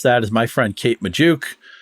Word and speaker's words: Magdziuk: Joining me to do just that is my friend Kate Magdziuk, whose last name we have confirmed rhymes with Ayuk, even though Brandon Ayuk is not going to her beloved Steelers, it looks like.